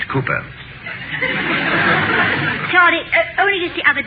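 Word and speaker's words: Cowper: cooper down uh it is hmm calper but pronounced cooper charlie only just the other day i heard you call him kalpa oh i know my dear i sometimes do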